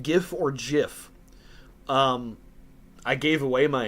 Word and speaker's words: GIF: gift pronounced GIF or gif um I gave away my answer at the beginning of that uh GIF it's pronounced GIF the person who created it says it's pronounced Jiff and they're wrong uh would you rather